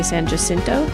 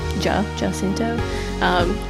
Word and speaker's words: San Jacinto: Also, I'm pretty sure thinking about it now, the Texans would say San Jacinto. Jacinto. Let the record state that we had an extensive discussion about how to pronounce San Jacinto. Don't at me about this. I know Americans don't use the Spanish pronunciation.